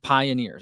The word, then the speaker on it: PYNRS: It's pronounced pioneers.